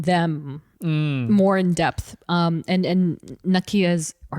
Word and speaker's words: Nakia: And Nakia's or Nakia. I keep saying Nakia because of T'Challa in Black Panther, but I think the pronunciation is a little different.